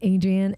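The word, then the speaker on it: Adrienne: just space just no just a d r i e n n e Adrian oh I see yeah just not just you're say my name Adrian without the Z not CU his b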